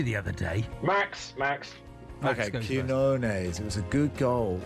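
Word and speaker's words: Quiñones: Goal scored by Quinones. I've told that's a correct pronunciation.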